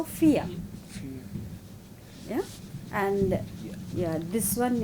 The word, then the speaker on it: vier: But this one I, no? So vier.